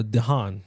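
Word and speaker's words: DeHaan: Stone Jamie Fox Dane Dean yeah uh Dean my bad that's how you say his name uh releases May 2nd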